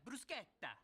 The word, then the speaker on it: bruschetta: Do you mean bruschetta? Yeah, brusqueta. Why are you saying it that way? That's how it's supposed to be pronounced.